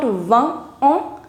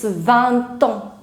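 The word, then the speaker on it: vingt ans: So it is not 20 ans, it's 20 ans. 20 ans. You'll start pronouncing this T as well.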